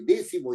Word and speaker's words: décimo: rige por su regla décimo es una palabra esdrújula tiene que llevar acento en d séptimo es una palabra